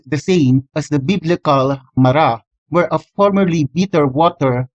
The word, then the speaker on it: Marah: Resh He, and while it is currently pronounced Marah, it could have been pronounced as Maru instead during the time of Moses.